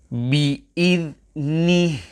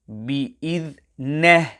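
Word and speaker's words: بِإِذْنِهِ: Indahu illa bi'idhnih. When reciting this word, the kasrah on the letter noon must be pronounced fully and flatly. Many pupils recite this word bi'idhneh without fully reciting the kasrah on the letter noon.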